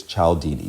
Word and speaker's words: Cialdini: persuasion uh it's by robert b cialdini i believe is how you pronounce his name and i pro i apologize to that man if i mispronounced it um but i believe it's ciao didi c-i-a-l-d-i-n-i uh the link